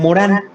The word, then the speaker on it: Morin: señor que se llama Edgar Morán, o Edgar Morin, le dicen, ¿no? Pues se pronuncia Morán.